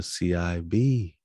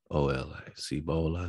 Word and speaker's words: Cibola: Sometimes spelled with a C-U-C-E-U or C-E-V-O-L-I-O-L-A, or sometimes with a C-I-B-O-L-A, Cibola, Cibola.